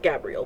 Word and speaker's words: Gabriel: So, Gabriel uh It's pronounced Gabriel, by the way. Don't ask me why.